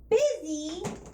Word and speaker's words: busy: penmanship busy and dizzy busy and dizzy so we have u s and IOU Z when why does the U over here suddenly sound like an i over here and if this wasn't